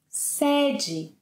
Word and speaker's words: sede: For example, sede, with the open E, Sede is the headquarters of a company.